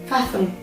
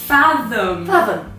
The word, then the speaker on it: fathom: : بمعنى الإدراك , تنطق بصوتٍ شبيه بصوت الذال في العربية , بينما ( روزي ) نطقتْه أقرب إلى صوت الثاء في العربية .